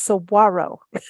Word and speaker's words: saguaro: You sent me aside kindly and said, Lisa, I want you to know it's saguaro. It's not saguaro.